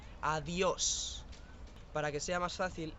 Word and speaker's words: adiós: La siguiente palabra es adiós. Este es el saludo de despedida típico. Fijaros en la S final. Adiós.